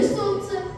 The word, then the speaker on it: солнце: А какая орфограмма в слове «солнце»? В слове «солнце» непроизносимая согласная «л», пробежное слово «солнышко» или «солнечный».